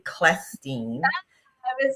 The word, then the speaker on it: Clestine: So, I always tell people think of a hard k and then it's going to be easy for you to get it. So, it's actually Klestin.